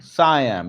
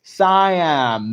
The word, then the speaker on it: Siam: Sam, is that the name actually? How do you pronounce that? Siam or Sam? Sam. Siam. Okay. Siam, modern Thailand, ruled by the Chakri dynasty, remained the only independent tide.